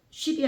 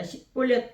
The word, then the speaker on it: 십볼렛: 그에게 이르기를 십볼렛이라 바하라 하여 십볼렛 쉽이 아니라 십볼렛 발음하면 길르앗 사람이 곧 그를